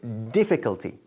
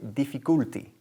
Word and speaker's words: difficulty: Fijaros dónde enfatizo, dónde recae el énfasis aquí. en la primera sílaba, ¿ok? Decimos difficulty, difficulty, y nada de difficulty, ¿ok?